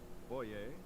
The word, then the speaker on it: Boyer: Boyer. I was right. It's French, isn't it? Boyer.